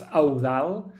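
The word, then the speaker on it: Eudald: First of all, my name, which is a bit complicated to pronounce, it's Audal.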